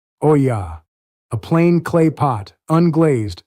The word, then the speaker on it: olla: It is called an ola. Say it like the Spanish do. Oya.